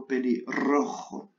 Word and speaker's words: pelirrojo: On doit prononcer la R et la J.